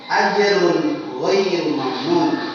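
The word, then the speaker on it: أَجْرٌ غَيْرُ مَمْنُونٍ: Azrun dha, nun bertemu dengan dha. Jadi dibaca, cara membacanya adalah terang dan jelas. Ajrun ghairu mamnun, tidak dengan dengung.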